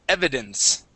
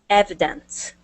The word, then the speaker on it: evidence: First up is evidence. Evidence. Yeah. So, the accent is at is at the very beginning of the word.